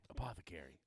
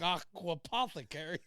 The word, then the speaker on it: apothecary: Apothecary. I got to keep saying it right. Yeah, Apothecary. and the whole aqua threw me off. It's like aquapothecary.